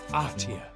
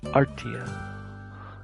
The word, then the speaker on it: Artia: After some time they arrived at Artia. Arta. That's how you say it. Artia. That makes sense. Cuz art.